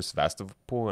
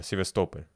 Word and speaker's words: Sevastopol: Sevastopol, I think is how you pronounce it in Russian.